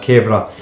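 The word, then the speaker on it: kewra: teaspoons of kevlar water now it says cure on there we pronounce that as kevra if you can't get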